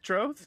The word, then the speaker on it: Troth: The troth? Yeah. Troth. Pronounce it right. Troth. No, it's like a pig trough.